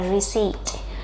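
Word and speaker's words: receipt: này và từ này cái chữ P là bị câm các bạn nhá chúng ta sẽ đọc là reed reed ok như vậy đáp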